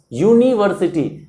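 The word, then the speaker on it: university: इसी तरह से यूनिवर्सिटी यू से स्टार्ट होता है, बट इसका जो प्रोनाउंसिएशन होता है उससे पता चलता है कि वाई से स्टार्ट हो रहा है। तो एन यूनिवर्सिटी नहीं होता है, ए यूनिवर्सिटी होता है।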